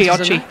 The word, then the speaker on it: Chiocci: Chiocci, is that how she's pronounced? Chiocci, yeah.